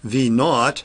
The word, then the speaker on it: V naught: V naught, as it's pronounced, is v at t equals 0, the initial velocity.